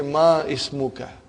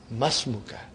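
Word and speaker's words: اسمك: masmukha remember hamdatul vasal it will be incorrect to say ma is muka you should say masmuka comes in the beginning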